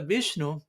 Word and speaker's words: Viṣṇave: llega el turno de vishnu quizá la persona piensa Bueno tengo que decir algo con ya al final también person pero el caso en particular la pronunciación correcta es vish en fin todo esto